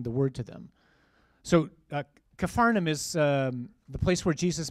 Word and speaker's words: Capernaum: So when he, that's Jesus, returned to Capernaum, which is how you say that word, I don't know why it's never written right, after some days it was reported that he was at home.